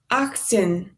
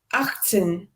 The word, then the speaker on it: achtzehn: achtzehn, Yes, and that is a bit of a sneaky one because we do write the letter T here of acht, but we don't pronounce it usually.